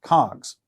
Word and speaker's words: COGS: is often abbreviated using the acronym Coggs pronounced cogs these are the wholesale